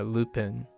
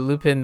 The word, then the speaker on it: Lupin: to my ears I I don't say lopin but Lupin the third is uh I guess your Kona Lupine Lupin you haven't seen